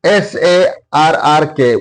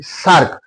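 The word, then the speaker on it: SAARC: And SARK, SARRK, we do not read like this. We read or we pronounce it like SARK, South Asian Association for Regional Cooperation. SARK, saw, it produces consonant sound saw.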